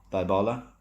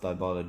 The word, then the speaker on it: Dybala: From what I've read today morning, we are looking at Juventus in a swap deal for Paulo Dybala.